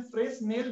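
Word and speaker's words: Fresnel: इस प्रकार के विवर्तन को हम कहते हैं फ्रेस्नेल विवर्तन, ठीक है। फ्रेस्नेल विवर्तन, फ्रेस्नेल डिफ्रैक्शन, फ्रेनेल डिफ्रैक्शन भी कहते हैं। ये लोग इसको फ्रेनेल कह देते हैं, इसको साइलेंट बोल देते हैं।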